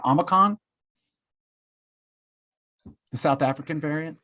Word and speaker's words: Omicron: Do you guys know the proper pronunciation? Omicron?